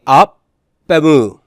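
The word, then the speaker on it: ἀπ' ἐμοῦ: Would you pronounce it still apa? No, you wouldn't. So it would be op-emu.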